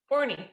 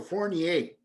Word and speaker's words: Fournie: Is your last name pronounced Fournie? Fournie, yeah. Fournie, okay, got it. Okay, I wasn't sure if it was Fournie or Fournier.